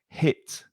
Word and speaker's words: hit: And be careful of that H sound on hit. It's not from the throat. It's not it's hit, hit. Yeah. It's not a jota, no? It's hit. Hit. And very short.